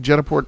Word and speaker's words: Jetaport: Am I pronouncing Jetaport properly?